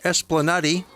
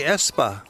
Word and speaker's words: Esplanadi: In Fin, Esplanadi. But the locals just say espa, and it runs from the market and waterfront all the way to the busy commercial streets of town.